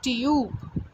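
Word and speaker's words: tube: बट इफ़ वी ऐड E after B या इन the last of this, तो हम इसको फिर प्रोनाउंस करेंगे ट्यूब। ओके, यू को हम यू प्रोनाउंस करेंगे, ना कि इसकी फोनिक साउंड।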